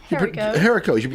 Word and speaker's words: Herico: Herico. You do pronounce the H.